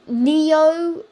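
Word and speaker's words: Nio: But there's Neo, but it's Neo, yeah, I believe that's how you say it, N-I-O, and it's a iOS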